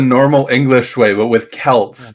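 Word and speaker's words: Celt: for so many years no you're pronoun you're pronouncing it the normal English way but with Kelts it's uh like and even in mod even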